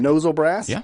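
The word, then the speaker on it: Mnozil Brass: we previewed Tuesday uh how would you say nozle brass right nozle brass right cuz the m is silent for some weird English language reason uh they're going to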